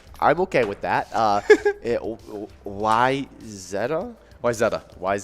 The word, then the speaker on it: Wayzata: here okay uh was wazada wazada okay well that is actually how it's normally mispronounced uh wayzata is usually the mispronunciation the actual pronunciation is why zetta uh totally acceptable to